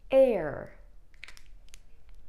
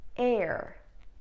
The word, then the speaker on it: heir: So in the following examples, the H is always silent. Can you try and say that? Honestly, honestly. Let's try another one. Honor, honor. Heir, heir.